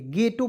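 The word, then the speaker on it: ghetto: ओ क्या पड़ेंगे दोस्तों गेटो गेटो नहीं पढ़ेंगे गेटो पढ़ा जाएगा ठीक है और गेटो का सही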